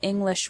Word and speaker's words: English: You probably already know that individual English words have stress. For example, the word English has the stress on the first syllable, ing.